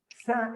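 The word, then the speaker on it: ث: There is no equivalent, no equivalent in any other language. Sa is a unique pronunciation in Arabic.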